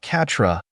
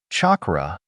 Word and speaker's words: chakra: "No, not Katra, chakra," he corrected, emphasizing the word carefully.